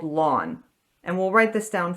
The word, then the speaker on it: ln: this is sometimes called lawn and we'll write this down formally in a second so in terms of notation they write it Ln but it's pronounced lawn and it's just a